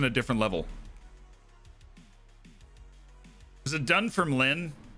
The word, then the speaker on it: Dunfermline: It's spelled like Dunfermline, but Dunfermline. Dunfermline. Doing a firm line.